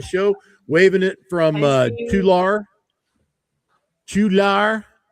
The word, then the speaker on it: Tulare: It's Tulare. Tulare. Tulare. Say it with us. Tulare? wasn't three, it was not how many Larrys, not one Larry, not three Larrys, but two Larry.